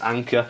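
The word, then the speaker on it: Anker: adapter which is cool I believe you pronounce it anchor a n ke R so I guess it's anchor this is a seven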